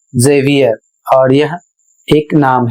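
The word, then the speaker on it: Xavier: अगला शब्द है एक्स ए वी आई ई आर और इसे पढ़ना है जेवियर और यह एक नाम है।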